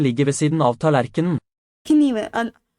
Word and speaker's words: kniven: Kniven, the knife is pronounced kniven instead of in English we just say knife.